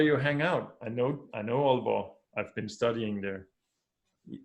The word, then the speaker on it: Aalborg: English speakers don't know that double A in Danish is pronounced.